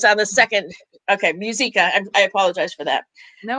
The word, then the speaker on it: Muzyka: sidewalk advocates for life and this is muziak did i say that right close musica you told me yesterday too i know